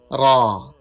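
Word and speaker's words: ر: Ra has full sound. Do not pronounce Ra with thin sound. While pronouncing, raise tongue toward the palate. You can pronounce Ra with full sound.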